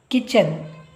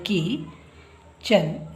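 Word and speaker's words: kitchen: ಓ spoon ಅಂದ್ರೆ ಚಮಚ next ಕಿಚನ್ ಇಲ್ಲಿ T silent Ki ಕೆ ಐ ಕಿ ಚನ್ ಇಲ್ಲಿ T silent ಕಿಚನ್ next F ಓ ಫೋ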